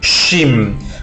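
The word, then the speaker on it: Shin: En hebreo existe una letra que se llama la letra Shim, se pronuncia de esa manera, SH, Shim, como Yahoshua, ¿sí? Como Mashiach, es una letra sibilante.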